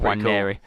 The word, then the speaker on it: Nwaneri: Yeah, no, I did do some homework on how to pronounce the name because it's a silent N. I think he must be from African heritage, but he's an English. He's played for England youth levels, so silent N. Nwaneri.